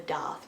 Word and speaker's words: Daith: the date piercing or in America I'm pretty sure it's called the Darth piercing but our pronunciation is different so yeah the day piercing let's get into it